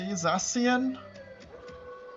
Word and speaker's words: Zacian: Zacian? I'm assuming? It's a like soft C. Zacian?